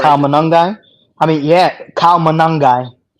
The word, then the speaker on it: Monangai: No, well, what do you think of Kyle Mungai? Did I say it right? Kyle Monangai.